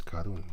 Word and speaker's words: Karun: It's spelled karun there. Here the here. Here it says going over what is called the karun. He says karun. Karon. He says, but it's actually karun.